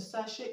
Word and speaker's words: sachet: Okay, now the CH in sachet is pronounced sh.